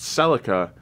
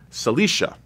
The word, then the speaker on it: Celica: from the celica gt one of my best friends in college pronounced celica cilicia i thought that was